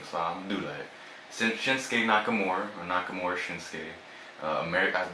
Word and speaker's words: Shinsuke: I stopped saying Suke when like I watched Naruto back in the day. It said Sasuke. I'm like, okay, that's the right way to say it. Yeah. Anyway, Shinsuke was the current Intercontinental Champion.